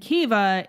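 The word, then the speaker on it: Caoimhe: none the wiser and welcome to town and keva is spelled c-a-o-i-m-h-e as you can see as an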